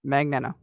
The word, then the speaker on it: Magneto: my name but it's it's not it's Magneto just saying how I'm saying it Magneto uh Magneto is how you say my name um but yeah um